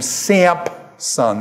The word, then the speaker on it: Samson: in there no actually what you're doing is you're using the Greek pronunciation of this the Greek has a P in it and it's come over